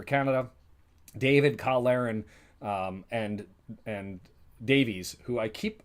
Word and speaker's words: Davies: David, Kyle Larin, and Davies, who the last one I kept pronouncing it Davis. The influence of watching a Welsh squad is Jonathan Davies turned into Jonathan Davis, and that's on me.